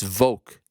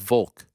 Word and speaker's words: Volk: That said, for the love of Frank's anonymity, it's Volk, not Volk. What do I say? The name Volkanovski has a very pronounceable L right there. You have no problem nailing when you say his full name. But when you refer to him by his pet name, you lose the L faster than Dean Thomas backstage after the Sarah fight.